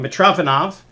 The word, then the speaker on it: Mitrofanov: Okay, so this is the famous problem by I always said the name wrong. Mitrofanov.